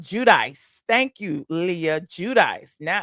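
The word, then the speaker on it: Giudice: Now, you said it's pronounced Judice.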